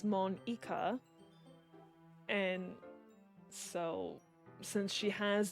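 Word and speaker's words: Monika: Well, I think the basis of Natsuki's joke to Monica was in Japanese, they actually say her name as Mon-ika.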